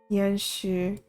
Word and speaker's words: 彦许: And then Yan Xu. Where is it? 程彦许 Yan Xu. Yan Xu instead of Yan Xu.